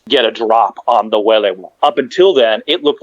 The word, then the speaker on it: Welewa: And yes, it's pronounced Welewa.